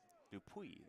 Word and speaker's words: Dupuis: out by number 10, Nate Dupuis, P-U-I-S. Dupuis, it was what it would be if you're using the French pronunciation guide.